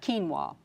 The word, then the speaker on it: quinoa: talked to me about quinoa. I had to write it down because it's certainly not spelled like it sounds.